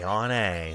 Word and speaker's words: Ayane: This is Ayane. Ayane. That's how you pronounce her name.